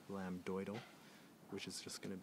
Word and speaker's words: lambdoid: to find your lambid make sure that's spelled with an m b d lamb doal which is just going